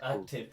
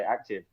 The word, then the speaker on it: Akh-tive: But we know what it means, so it's Akh-tive. Cool. Have they had difficulty pronouncing that? Because when they're reading it, no, they just call it Akh. Yeah, they just say active.